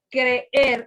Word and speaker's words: creer: golpe de voz como cuando usted dice ciencia ciencia pero en este caso en el día con las dos vocales se pronuncian separadas por ejemplo quiere él